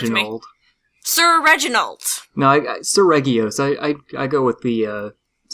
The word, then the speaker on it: Seregios: Sir Regios. Yeah. Seregios, hard G.